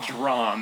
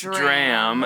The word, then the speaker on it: dram: which was yesterday um is it pronounced dram or drum what because Curtis said drum and I went no no no it's it's dram and besides that I